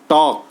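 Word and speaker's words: talk: word और लिख ले टॉक टी ए एल के टॉक तो इसमें आपका एल साइलेंट है अब अगला क्वेश्चन है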